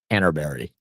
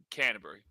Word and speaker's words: Canterbury: So, it's more it's more like Canterbury. Like there's no real It's not like a berry at the end. You just run it. You kind of take the U out of the end. Canterbury.